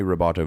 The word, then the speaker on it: rubato: We might be changing the tempo, but this does give me rubato vibes at least. If you want to pronounce it like super correct, rubato, and it is R-U-B-A-T-O.